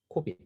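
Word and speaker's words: COBIT: 코빗. 자, 코빗의 이름은 어디서 왔느냐? Control Objectives for Information and Related Technologies. 이 얘기에서 왔어요. 코빗. 그래서 우리 그냥 코빗이라고 읽습니다.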